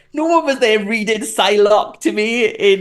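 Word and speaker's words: Psylocke: I remember asking them did they have a pyck and I remember like this like nudie horrible man being like it's actually pronounced psylock and he was American as well and that's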